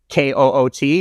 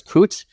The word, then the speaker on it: Koot: It looks like it's Koot in English. I pronounce it as Koot. It is Koot.